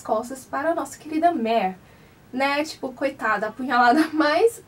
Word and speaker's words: Mare: nomes dos personagens e não é Mari, sim Mare, né?